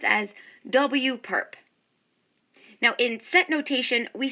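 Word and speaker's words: W⊥: w raised to that perpendicular symbol which we pronounce as w perp now in set notation we say that w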